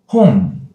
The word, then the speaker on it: 홍: First one, 홍. H sound, O vowel, NG. NG, if we put the empty circle for the final consonant, then NG sound, it is 홍.